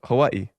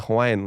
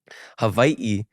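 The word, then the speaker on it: Hawaiʻi: you're gonna say Hawaii or you know as locals say Hawaii you know it's you have a different pronunciation of the W sometimes but in the Hawaiian language is to clarify for people who are curious Hawaii is the Hawaiian way to say the word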